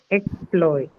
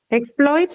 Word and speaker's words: exploit: noun and verbs so exploit then can be can can have two different stress patterns depending on what it is used as okay so if it is used as a verb the stress is on the second syllable okay exploits but if it is used as a noun then the stress is on with the level usually per syllable right person so correct correct